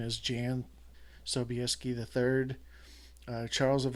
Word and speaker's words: Jan: that showed up were John sobieski the third or Jan at the Polish spelling and pronunciation is Jan sobieski the third charles